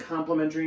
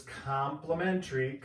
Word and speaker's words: complementary: angle 4 because it's complementary. Complementary. Not like when you get something free, it's spelled different. It's complementary. It's still pronounced complementary. But there's an E instead of an I.